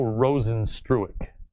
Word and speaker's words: Rozenstruik: But for how do you pronounce the surname? It's Jair Zinho Rozenstruik.